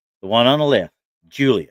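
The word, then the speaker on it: Giulia: one on the left, Julia, Hmm. Hmm. it's spelled Guilia.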